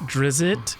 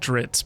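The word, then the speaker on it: Drizzt: about the dark elf it's probably pronounced drizzit d r i zzt t love drizzit but I always said drits because I feel like drits sounds cooler but I love uh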